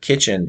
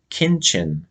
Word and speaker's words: kitchen: It was called Country Kitchen, and for some reason my cousin pronounced the word kitchen. He would say kinchin um, instead of kitchen, kinchin.